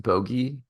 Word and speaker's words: Bogge: they say it's pronounced bogey, which makes a lot more sense if it was like if it was called bogey. And then But like Boogeyman, yeah. the narrator um or the narrator of the book though pronounces it bog.